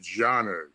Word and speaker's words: Xanue: the mark of a Janu, which is a certain type of the forest people that live in that area, and that is their marker. It's actually spelt Xanue, but they pronounce it Janu.